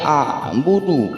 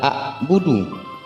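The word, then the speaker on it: أعبد: Jadi membacanya a'budu bukan a'budu. Ingat, a'budu bukan a'budu. Karena huruf hamzah dan huruf ain sangat berbeda makharijul hurufnya.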